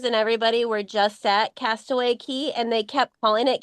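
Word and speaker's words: Castaway Cay: not to call those Cast Away K and Lookout K just like anything down in the keys that c a y is pronounced key so you're going when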